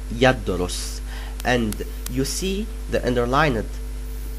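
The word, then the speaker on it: يدرس: see it on your screen, and it is pronounced yadrus.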